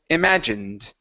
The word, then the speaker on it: imagined: Instead of saying imagined, okay, the word is imagined.